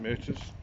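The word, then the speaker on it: Myrtos: We're getting to Mythos Beach, whichever way you want to pronounce it. I was taught to pronounce it Meuses.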